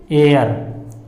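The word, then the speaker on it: heir: तो क्या निकलता है, एयर निकलता है, क्योंकि एच क्या हो जाता है, साइलेंट।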